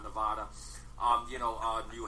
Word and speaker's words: Nevada: Nev Nevada I which I learned how to say it properly it is Nevada and not Nevada um you know uh